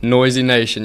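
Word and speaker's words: Noyzy Nation: So that's actually why how I came up with the name Noisy Noisy Nation. Yes, sir. Noisy Nation. And it's how spell that.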